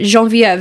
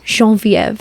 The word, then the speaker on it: Geneviève: So Genevieve is the actual pronunciation of my name. And that's always been very important to me. And Say of course, that again slow. Genevieve.